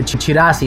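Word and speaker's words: chirashi: There is also different types of sushi, like for example the chirasis, that one. I can pronounce this correctly, let's go. There's also different types of sushi, like the chirasi sushi, chirasi.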